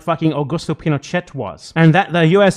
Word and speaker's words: Pinochet: Yeah, it's Pinochet. It's Shay is right, but it's no big deal. Wait, it's Pinochet. You pronounce all the letters in Spanish language names, right?